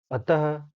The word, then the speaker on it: अतः: और विसर्ग क्या है, इसका उच्चारण ह की तरह होता है।